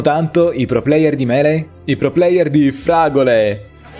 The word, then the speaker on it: Melee: I pro player di Melee? I pro player di Fragole! In italiano viene più naturale pronunciarlo tipo Meli, Meli, però no, dovrebbe essere Mele, quindi cerco di dirlo bene.